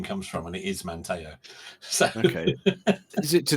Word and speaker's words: Manteo: the details now but the correct pronunciation is Manteo so yeah because I've